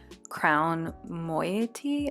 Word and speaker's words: Moiety: These are in the style RUKUS and they're by the company called MOIETY, I think is how you say it.